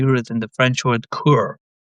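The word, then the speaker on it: cœur: Courage actually courage that is actually root in the French word cur pronounced cur meaning heart.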